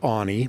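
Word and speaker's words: Aune: is Anie yeah my name is Anie that's spelled Au NE e and I am the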